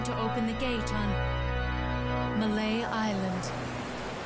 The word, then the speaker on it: Mallet: He has been preparing to open the gate on Malay Island. Pronounced mallet.